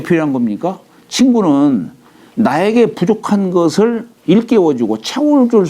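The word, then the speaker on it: 復: 기부 유물화 어찌 이게 회복할 복자를 다시 한다라고 할 때는 부라고 읽어요. 다시 부 어찌 다시 물이 있으랴.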